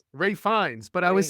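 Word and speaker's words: Ralph Fiennes: Actor and he reads Ralph fenes that was my conclave joke I like that you called him Ralph penis I thought so right because how that's pronounced or find Ray fines but I was saying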